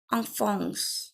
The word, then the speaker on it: enfants: Elle a 3 enfants. Enfant. Je ne prononce pas la S finale.